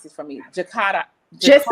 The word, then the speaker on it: Jakarta: So my first guest is Miss KaNikki Jakarta. No, you have to pronounce this for me. Jakarta.